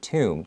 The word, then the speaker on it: tomb: 我们再看到这个字 tomb, there's a B at the end, but we don't read it.